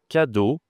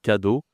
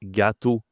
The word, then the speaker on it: cadeau: Present en anglais cadeau. Il y a beaucoup de d'élèves à moi disent gâteau. Ils ont du mal à prononcer cadeau. D'accord ? C'est c do. C'est différent de gâteau par exemple.